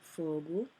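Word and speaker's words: Fogo: interesting how they met my mom is from Fu that's how it's pronounced f o g o um and my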